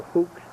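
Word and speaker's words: Fuchs: u c HS Fox pronounced fox or hooks in German know where that car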